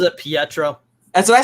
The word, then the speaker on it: Pietro: in some ways i'm the only one that pronounces it pietro that's what i said peer troll i know